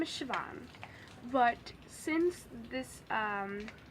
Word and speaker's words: Siobhan: name is like it's since it's IR well it's Gaelic and it's spelled way differently than you would have think yeah don't even try to spell it but so I just tell people to call me because that's way easier so you can either call me or sioban it doesn't really matter